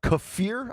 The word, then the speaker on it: kafir: The USA Today with a headline, Secretary of Defense Pete Hegsth's uh Kafir, I believe is how you say it.